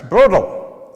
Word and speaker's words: Brodl: Brodl. I did pronounce that right, didn't I?